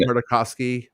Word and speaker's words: Tartakovsky: I love I always have a hard time pronouncing this last name, but the 2003 Clone Wars, so I haven't. Tartakovsky.